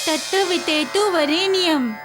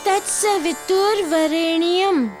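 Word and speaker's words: तत्सवितुर्वरेण्यम्: तत वितेतु वरेणियम नहीं दामोदर बोलो तत्सवितुर वरेणियम तोड़त के याद करो सरलता से याद हो जाएगा और उच्चारण भी सही हो जाएगा बोलो तत तत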